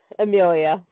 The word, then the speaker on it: Emilija: Ignore the J. Amelia. Amelia, I knew it.